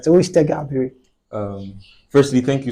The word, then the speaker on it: Tega Abiri: try can I try Okay so who is TGA Airi am I correct yes you are all right so who is TGA Airi uh um firstly thank you so much David